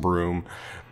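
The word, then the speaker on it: Bruttenholm: the Allies professor broom his original name looks like brewed to know more something and it's pronounced and broom and he adopts Hellboy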